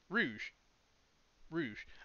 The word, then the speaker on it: Rouge: If Rogue ever... Is it Rogue or Rouge? Rouge.